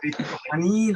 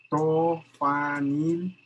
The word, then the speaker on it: triptofanil: Triptofenil, Ángel. ¿Cómo triptofenil? ¿Qué no les enseñaron en bioquímica a pronunciar esto? No me acuerdo. Triptofanil tRNA.